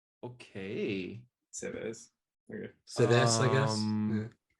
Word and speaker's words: Sèvres: Sevres. It's French. Okay. Sevres.